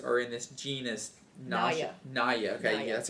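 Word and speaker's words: Naja: Naya. Okay, that's how you pronounce it.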